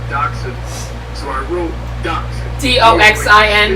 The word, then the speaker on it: dachshund: me to this day it's german yeah so it's spelled like an english person would look at that word and call it to say dashan but it's dawson yeah uh i remember